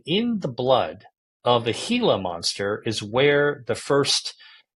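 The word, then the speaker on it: Gila: hila monster anybody who doesn't know what a hila monster is spelled g l a go ahead and look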